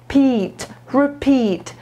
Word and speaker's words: repeat: chodzi o wymowę tutaj słupkowy PIT Akcent jest na PIT Czyli będzie repeat please repeat kg please